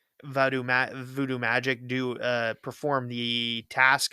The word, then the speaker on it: voodoo: Voodoo seems to be like a very like an anglicized version of the pronunciation.